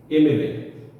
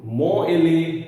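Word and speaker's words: MLA: এম থেকে যখন বলছি এমএলএ, এমপি, এমএ, এক্ষেত্রে আমরা এর উচ্চারণে কিন্তু ম এলএ, ম পি, ম এ এরকম উচ্চারণ করতে পারছি না। কি প্রনাউন্সিয়েশন আসছে? এম এলএ, এমপি, এম এ।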